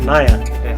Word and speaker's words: Nair: if his name is how do you pronounce it nyah nyah suresh nyah I won't forget that because the word nyah